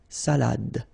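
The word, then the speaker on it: salade: Final. You don't insist on it. It only gives you the pronunciation of the previous letter. So the salad salad okay salad and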